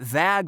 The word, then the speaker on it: vag: For all those wondering, it was in fact pronounced so that vag would rhyme with tag, i.e.